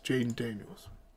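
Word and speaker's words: Jayden Daniels: Yes, Jaden Daniels. Okay, make sure. I'm saying the guy's name wrong the whole time.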